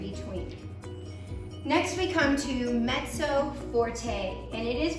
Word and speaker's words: mezzo: Next we come to mezzo forte, and it is pronounced mezzo. It's spelled M-E-Z-Z-O, mezzo, but it is pronounced mezzo forte.